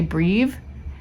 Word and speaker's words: breve: So wait, sometimes I say it breve. I also hear people say breve.